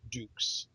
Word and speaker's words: Dukes: it says specifically pronounced Dukes all right it's actually spelled out du KES all right like put your dukes up kind of thing right all right well